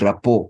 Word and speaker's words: rapport: out the o sound the T at the end is silent we eliminate it or we remove it the pronunciation of that word does not change but if we remove